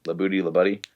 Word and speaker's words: LaBuddy: That's how you say his name, Labuddy.